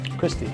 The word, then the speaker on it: Christie: Christie.